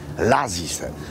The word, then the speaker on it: Lazise: Śpimy tutaj, a jesteśmy w miejscowości o nazwie Lazise. Tak to miejscowi wymawiają.